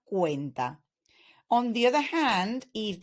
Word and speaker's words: cuenta: that comes after so if the letter C in Spanish is followed by the vowels the sound that you need to generate is like the English K in words like kayak koala or kudos so as such we have Casa Costa cuenta so the sea in Spanish when it's followed by the vowels sounds like a k ASA Costa cuenta on the other hand